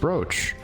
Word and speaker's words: brooch: be Roo CH and broa CH are both pronounced brooch and that's the beauty of English is that